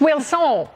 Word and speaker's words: Wilson: Now, when I got all enthusiastic just then, you looked like I hadn't pronounced your name right. It's Wilson. Yeah. Oh, it's Wilson.